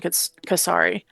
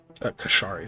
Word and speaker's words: Kashari: Oh, that that looks like the character for one in ancient casari. Kashari. Sorry. Yeah, I said it wrong.